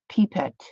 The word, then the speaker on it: pipette: to see something foreign I think we pronounce it pipette oh really not Pippi pipette okay cool sounds very cute